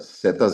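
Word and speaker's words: Zetas: Setas is the last letter of the alphabet Z and in Mexico it's pronounced seta.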